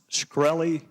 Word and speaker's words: Shkreli: your question thank you Mr chairman is it pronounced shkreli yes sir see there you can answer some